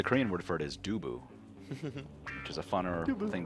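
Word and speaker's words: 두부: Do you pronounce it tofu, Choe? Like the... No, actually the Korean word for it is dubu, which is a funner thing to say.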